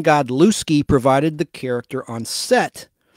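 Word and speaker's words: Godlewski: spelling of Christian k-r-y-s-t-i-a-n Christian godlowski g-o-d-l-e-w-s-k-i Christian God looski provided the character on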